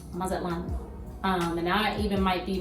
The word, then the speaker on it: Mazatlán: I'm country, so you might hear me pronounce it that way, but it is pronounced Mazatlán.